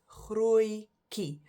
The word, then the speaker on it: grootjie: You can pronounce it as grootjie. That double O-I sound, if you look at